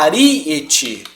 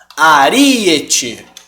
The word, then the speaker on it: aríete: tá ela chama Ariete a pronúncia dela é a aríete pela battoni que é aqui ó aríete e aí ela tem